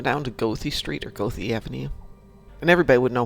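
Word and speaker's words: Goethe: in chicago g-o-e-t-h-e okay in chicago it's pronounced gothie ah can you take me down to gothi street or go the avenue and everybody would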